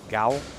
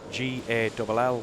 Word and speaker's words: Gall: For all my life I've been Gall and everybody calls me Gall, which I don't understand really, because Gall is spelled G-A-L-L, which is just like ball, B-A-L-L.